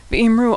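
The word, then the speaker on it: ויאמרו: V'imru also ends with a vav, this one in the form that's pronounced u, v'imru.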